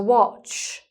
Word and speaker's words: watch: But this with the time on it is a "watch". So it's not a watch; it's a watch, so it's short "o" sound, "aw", as in "orange".